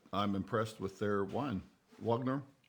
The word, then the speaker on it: Wagner: impressed with their wine Wagner Wagner vogner depending on you know whether you want the traditional German pronounce V Vagner or Wagner Wagner Wagner anyway yeah